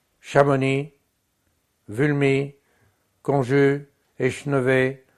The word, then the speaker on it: Chamonix: comment faut-il faire ?» On aurait pu ne rien mettre, mais on a fait pire. On a mis un X. Chamonix, Vulmy, Conjus, Échenevé, G, enfin G c'est un monosyllabe, Mont-Saxonais, etc.